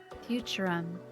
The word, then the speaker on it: Futurum: That's how it sounded pronounced in the local tongue, anyway. Futurum.